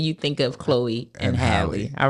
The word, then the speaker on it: Halle: us to know that it's pronounced the same way it is it is not Haley no I I see